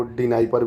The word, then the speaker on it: Dnieper: ना, नाइपर नदी, जिसको डी नाइपर भी बोलते हैं कई लोग, डी साइलेंट है वैसे, नीपर नदी इसको बोला जाता है, DNIEPER ये स्पेलिंग है, नीपर नदी बोलते हैं आप लोग, डी नीपर,